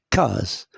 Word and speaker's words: case: ou ce ou alors la case S se trouve où entre deux voyelles entre la voyelle a et la voyelle e donc S se prononce ze et je lis cas la case là la tasse même